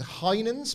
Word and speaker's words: Heinen's: I think this is Heinen's, but I'll spell it just in case.